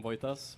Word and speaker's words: Voitas: And hello, I'm Voitas, pronounced as Voi, not Watch.